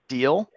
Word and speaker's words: Deal: So my name is Deal. like Deal or No Deal.